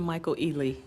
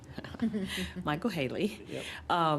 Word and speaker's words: Michael Haley: Michael Haley came from did I say his name right this time I keep calling him Michael Ealy Michael Haley he talked about the